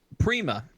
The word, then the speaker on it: Prima: is in in without the doubt yes um Prima p r i m a prima the way it's pronounced uh German exclamation of Joy recognition of